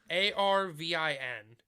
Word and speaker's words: Arvin: His his actual name in this is, let me make sure I'm pronouncing that right. Vampire 3. His name is Arvin. A R V I N.